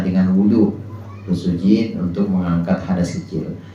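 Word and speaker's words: وضوء: Nah, ini bahasa Arab, ada wudu, ada wadu. Nah, di sini wudu dengan domahnya wawu ini sebuah ungkapan untuk pekerjaan tertentu, yakni pekerjaan menggunakan air dalam rangka mengangkat hadas. Bacanya wudu.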